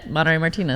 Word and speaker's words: Monarey Martinez: abrams today's very special guest comedian and philanthropist monterey martinez hello hi tell me i said your name right yeah monterey martinez i've been obsessing about that all day really